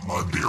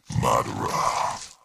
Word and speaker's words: Madara: after all number four murderer and it's not my dear uh it's Madara remember that name and how it's pronounced is the biggest biggest threat in Naruto